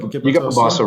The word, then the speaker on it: Bobosso: I'm about to butcher their names. So it's Bobosso, Korokaha. Korokaha and Bobosso. Yeah, so you got Bobosso right.